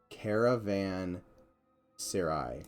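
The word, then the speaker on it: caravanserai: was it caravan um caravan sarai i believe is how it's pronounced um but kind of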